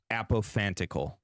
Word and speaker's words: apophantical: I think I've heard you say that before apophantical thank you say it again apophantical apathetical are founded upon interpretation in its structure